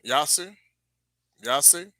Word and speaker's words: Jasher: Yase. Really is how you say it.